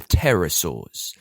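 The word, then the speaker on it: pterosaurs: We're talking about the terasaurs. Terror, but it's got a silent P at the start.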